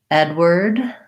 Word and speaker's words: Edward: it that way david edward we have ed the red tent vowel edward first syllables truss as well the w-a-r-d sounds like word edward word like the word